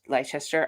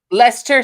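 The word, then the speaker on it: Leicester: in in lest leester I'm gonna say it wrong leester Lester thank you see I knew I was say it's when you look at it spelling Shannon it looks like Lester but it's ler and I always get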